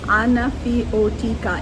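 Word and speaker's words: Anafiotika: Anaf o tikka. It's spelled a n a f iio o t i ka.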